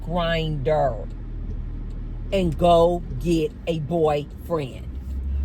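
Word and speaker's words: Grindr: I think it's spelled Gr NR, something like that, but it's pronounced Grinder. Man, go on the app called Grinder.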